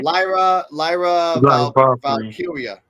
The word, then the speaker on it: Lyra Valkyria: Speaking of Lyra Valkyrie, actually, I have to say her name right for respect. Yeah. Lyra Valkyria. Lyra Valkyria's music plays and she comes to the ring.